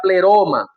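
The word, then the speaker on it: πλήρωμα: La palabra para cumplimiento en griego se llama o se pronuncia pleroma.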